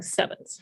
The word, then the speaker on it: CEvNS: the solution is to put a little v there to stand for the greek letter nu and pronounce the whole thing sevenths so i'm going to